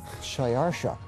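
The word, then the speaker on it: Xšayāršā: His Persian name, in Old Persian, which is his original native language, is Shayarsha. Now that was hard for the Jews to pronounce, so they said Ahasuerus.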